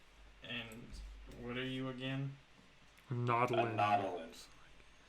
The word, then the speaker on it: Nautolan: I am a Nautolan, a bounty hunter who specializes in assassin missions.